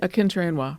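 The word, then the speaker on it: Akinterinwa: Akinter-Inwa.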